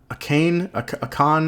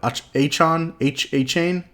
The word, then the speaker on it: Achane: That how do you pronounce his name? Akane? I don't know. Achane? I think it's Achane. I think is how he pronounces it.